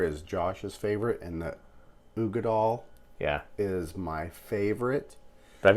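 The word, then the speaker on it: Uigeadail: My preference, I think I'm gonna say I think this is the Ugadal or whatever, however you pronounce it. Oh yeah, I would say Urgadal. I know there's no R in there.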